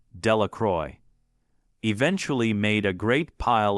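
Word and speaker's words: Delacroix: Jones and Dicky dakawa the villagers pronounced this name delacroy eventually made a great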